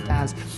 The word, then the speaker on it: BaaS: going to CloudWorld and pronouncing this like it's a fish, right? It's not bass, it's a BaaS.